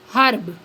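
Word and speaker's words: herb: for example are nest नर एयर अर्ब आर हर्ब next है साइलेंट के के इज नॉट प्रोनाउंसड के प्रोनाउंस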